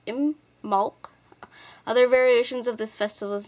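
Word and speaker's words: Imbolc: um is an Irish gelic word which is pronounced IM Mal other variations of this festival's name include the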